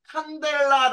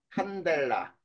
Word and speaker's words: 칸델라: d 이렇게 써요 그리고 뭐라고 읽느냐는 칸델라 아고 읽어 칸델라 그다음에 온도는 우리 알고